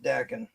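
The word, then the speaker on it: Daken: It's Dakin. actually pronounced Dakin.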